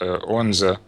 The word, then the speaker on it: Odense: then I actually live in, well, it's spelled Odense, but it's pronounced Odense, which is actually the birthplace of and home of Hans Christian Andersen.